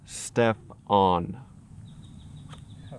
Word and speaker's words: Stephen: writer the writer okay Stephen it's pronounced step on okay well how did